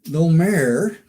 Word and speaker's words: Domergue: starring Jeff Morrow Faith No mayor as she insists on pronouncing it and Rex reason with Lance Fuller